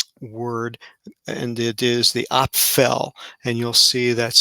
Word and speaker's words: Aphel: a causative um word and it is the op fell and you'll see that's spelled aphel and this is also in an